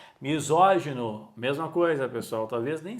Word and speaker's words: misógino: mas ela consegue ler porque ela sabe que a sílaba tônica é no assento e o timbre aberto lépido misógino mesma coisa Pessoal talvez